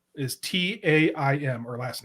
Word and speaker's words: Taim: It is Taim. My strategy kind of worked because it got Steve to say it wrong. Thanks. Yeah, you're welcome. This is still one that he's always going to be Mazrim Taim. It's Mazrim Taim. It's just Taim.